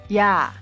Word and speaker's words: 야: This is pronounced just like A but with a Y sound in front of it, much like Ya in yard.